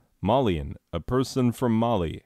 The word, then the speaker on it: Malian: Oh, by the way, Malian is the correct adjective form for describing a person from Mali. Malinese is objectively more fun to say, so that's what we went with.